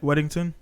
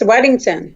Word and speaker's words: Weddington: your current name is how do you say your last name wedded weddington yes wedington wedding sir alright so